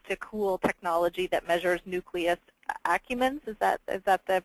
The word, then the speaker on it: nucleus accumbens: doesn't have access to cool technology that measures nucleus accumbens, is that the pronunciation, Gary?